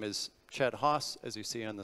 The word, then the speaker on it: Chet Haase: how to pronounce it you can use this common phrase if you'd like I use a hatchet when I'm cross sends exactly the same that works with me my title as I